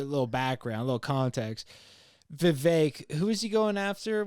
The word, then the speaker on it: Vivek: Vivek rhymes with Vivek. cake.